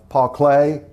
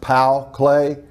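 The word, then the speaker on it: Paul Klee: other types of table top type pieces uh paul clay and actually his name is pronounced pal clay uh pat you know he did painting but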